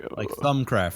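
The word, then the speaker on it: Thaumcraft: Like thumb, like as in like ThumbCraft. like lawn, like thumb. So like it's THAWM in pronunciation, apparently. So like ThumCraft, or just call it ThumbCraft at that point, I guess, really.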